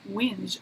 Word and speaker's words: whinge: It's in Australia and English, Commonwealth English, it's whinge, WHINGE. But there's no alcohol that rhymes with that.